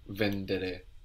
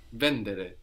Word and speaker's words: vendere: so vend to sell do you notice something odd about vendere the accent mostly we have it on the ending now in the if we think now we have the accent on the in the two on the but not here vendere so some Italian verbs have the accent third from the end vendere but only a few